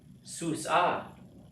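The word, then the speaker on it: סוסה: Susa. Again, the accent goes to the last syllable.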